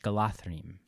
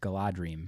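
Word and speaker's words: Galadriel: Gala dream it but now that we know the DH is the th galathrine I would always pronounce it in my head as a kid Gala dream sure because that's what it looks like and I speak English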